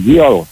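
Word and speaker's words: gaol: So J-A-I-L is G-L, right?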